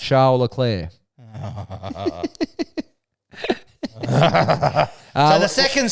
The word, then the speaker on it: Leclerc: Charles Leclerc. So the second C, the first C is pronounced heavily, K, Yep. and the second C is just off. Leclerc, yeah.